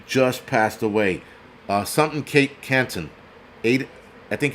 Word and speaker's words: Canto: And that actor who was in it, Aiden Canton, I think that's how you pronounce it. Right, Adriana. Canto, not Canton, Canto. He just passed away at 42 years old with a sudden bout of appendix cancer.